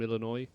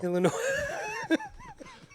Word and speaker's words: Illinois: We've got Corning, New York, Downingtown, Tornadoes from Illinois. My kind of town. Oh, you wait. You didn't say it right. Sorry, Illinois. There you go. Illinois.